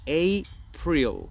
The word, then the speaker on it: April: Entonces decimos April.